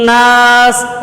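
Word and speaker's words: النَّاس: তাই আমরা এখানে জের উচ্চারণ না করে আমরা সিনের মধ্যে সাকিন করেছি। লক্ষ্য করো, আমরা কুল আউযু বিরাব্বিন নাস, আমরা কখনোই কিন্তু কুল আউযু বিরাব্বিন নাসি।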